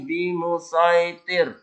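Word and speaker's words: بِمُصَيْطِرٍ: Tulisan shad tetap dibaca shad. Meskipun ada sinnya tetap dibaca shad. Yang mana ini? Ini. Lasta alaihim bimusaitir. Atau di selanjutnya musaitirin illa man tawalla. Ini surah Al-Qasiyah ya. Tetap dibaca shad. Bukan dibaca sin.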